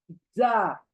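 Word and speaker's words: ز: तो ये लेटर, जैसे कि उर्दू में रे जे पढ़ते हैं, सही है, लेकिन अरबिक में रॉ, जा, जा, जे नहीं, ए नहीं।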